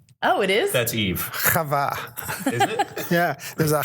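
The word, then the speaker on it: חוה: Chava. Is it? Yeah. There's a chet on there. Yeah. The chet. Chava. Yeah. You need phlegm to say Chava.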